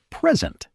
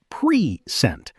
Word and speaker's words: present: A classic example, the word present. If I say pre-sent, that's a noun or adjective, like I got a present. But if I say pre-sent, that's a verb. I will present the report.